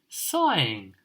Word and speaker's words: sighing: his sighing and crying sighing the silent G in it sighing oh dear he's